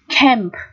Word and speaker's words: camp: Camp. Chữ A ở đây được phát âm là âm E, đúng không nào?